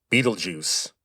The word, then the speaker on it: Betelgeuse: By the way, that is how you say that name. Betelgeuse. Now, the spelling is German, but the name comes from Arabic.